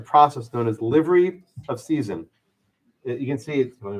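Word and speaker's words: seisin: a gift of property it's called livery of season s-e-i-s-i-n you'll see it's spelled you'll see it's both a z-s-e-i-z-i-n both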